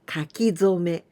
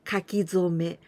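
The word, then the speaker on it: 書き初め: And this is called kakizome. Kaki, it comes from the verb kakimasu, to write. Zome, here we pronounce zome, but this kanji, it is hajime, in the beginning.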